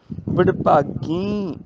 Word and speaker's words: बडभागी: बडभागी बिंदी नाल उच्चारण, वड्डियां भागां वाले, बडभागी नानक जन से।